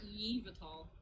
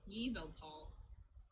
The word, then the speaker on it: Yveltal: It's not Yvatal. Yveltal.